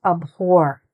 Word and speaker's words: abhor: To abhor. Say it after me. Abhor. Okay, there's an H in there, which we do pronounce.